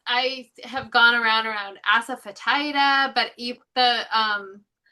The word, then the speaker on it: asafoetida: So, as I have gone around around asafetida, but the um it's furula asafeta and the um accent is on the F part, the fet. So, it's feda.